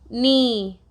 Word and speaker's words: knee: Here K is silent. E, knee.